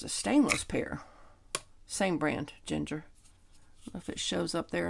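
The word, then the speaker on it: Gingher: heard of this brand they're Ginger but is spelled g i n g h e r these are very lightweight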